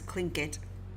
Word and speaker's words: Clinket: You know what gift giving means in Clinket culture and what it means to refuse one. So, apparently that word is clinkit. I was definitely not pronouncing it right.